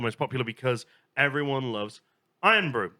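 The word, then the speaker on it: Irn-Bru: is not the most popular because everyone loves Iron Bro. It's spelled I R N B RU and this one is called the old and unimproved one.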